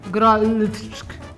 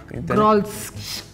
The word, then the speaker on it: Grolsch: I don't even know how to pronounce this. R or I? It's a G-I-O-L. Grolsch. Grolsch.